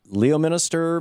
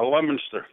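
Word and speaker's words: Leominster: key message of this campaign Richard in Le Leo Minister Massachusetts I know that's not not how it's pronounced how do you how do you say your town Richard uh lemonster lemonster thank you there you go you're on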